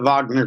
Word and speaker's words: Wagner: you're I apologize but I'll pronounce it the way the Russians do with a V so it's the Wagner group to them um